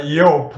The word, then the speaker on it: Joop: Yope. It is pronounced like uh an American would do when he sees the spelling yo a p.